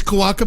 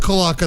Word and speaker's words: cloaca: Are these cloaca pictures?